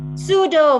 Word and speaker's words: pseudo: You see like PS, pseudo. Psychology. Very good. Psychology. Very good. So you see, when we say the sounds, so the sound can represents for this letter. You see, so the letter itself don't make the sound.